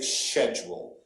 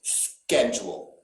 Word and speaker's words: schedule: the united states though nobody will say schedule we are going to pronounce that ch as a hard k sound schedule okay and then finally